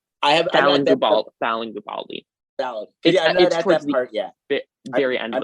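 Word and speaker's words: Guobadia: I didn't know how you pronounce it. It's Gubaldi.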